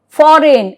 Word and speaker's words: foreign: Now, here rule 2, G is silent if the word ends with GN.